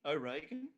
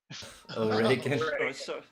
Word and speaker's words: Reagan: O'Regan? Reagan.